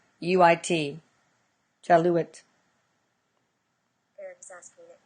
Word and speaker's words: Jaluit: I don't know how to pronounce that. It's Jaluit.